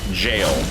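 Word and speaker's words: gaol: appears in this game g a o l and yet it you're supposed to just pronounce it jail but it's way more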